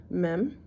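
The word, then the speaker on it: מ: sound different than that me m it's an M sound mopit goes at the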